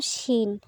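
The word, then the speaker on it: شين: আজকে শেষ যে হরফটি আমরা পড়তে চলেছি সেটা হলো শিন। এই যে দেখতে পাচ্ছ বন্ধুরা, এটা হলো শিন। জিহ্বার মধ্যখান তার বরাবর উপরে তালুর সঙ্গে লাগিয়ে, এর আগে আমরা জিম এবং ইয়া পড়েছিলাম।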